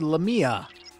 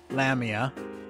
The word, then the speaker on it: Lamia: a new persona card Lamia or Lamia however you want to pronounce it this is actually a